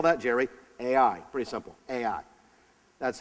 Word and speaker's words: Ai: Ai. Pretty simple. Ai. That's how it's spelled. That's how it's pronounced.